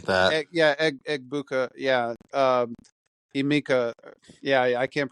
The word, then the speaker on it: Egbuka: Mayfield I'm just is afraid to try and pronounce it. yeah. I Emeka think Egbuku or something like that. Egbuka, yeah.